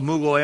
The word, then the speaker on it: Mughal: a new period of Muslim rule called the Mughal Empire, or some people pronounce it Mughal Empire.